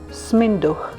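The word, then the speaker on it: сминдух: By the way, this is the Bulgarian spelling of fenugreek if you end up going to a Bulgarian store. It’s pronounced “sminduh”.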